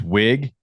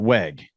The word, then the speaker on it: Wigman: do this pronunciation guide It's wig not Weg yeah I I don't